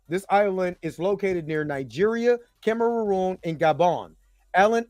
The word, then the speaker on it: Niger: That area, Niger, is pronounced Niger, not Niger. It is pronounced Niger, which is the Black Lands.